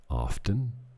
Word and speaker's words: often: a lie often enough often i say often but the t is silent how many people say